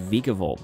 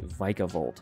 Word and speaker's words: Vikavolt: which I always pronounced Vikavolt, but apparently it's actually Vikavolt.